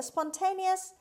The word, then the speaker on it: spontaneous: party word number six spontaneous spontaneous spontaneous the stress is on t sound means a one's free will natural on the spur of the moment without rehearsal hope spontaneous on ones of one's